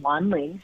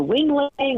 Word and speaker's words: Wanling: She's an immigrant from Taiwan, so her name is spelled Wanling, and people would say things like, speak to Wing Ling or Wang Long, or one time I even remember Wendy, and it was just